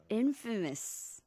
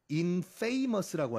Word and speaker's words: infamous: Infamous. Infamous. I-N 쓰죠. I-N을 앞에다가 붙이면 그렇죠. Infamous. 근데 발음이 많은 분들이 그냥 스펠링만 보시고 infamous라고 하시는데 infamous가 삐입 아니죠. 네. Infamous입니다. Infamous.